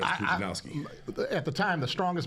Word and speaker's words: Pudzianowski: Pudzianowski. They call him Pudzianowski.